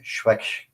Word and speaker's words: Swechcha: I write as as my pen name. Okay. Fantastic.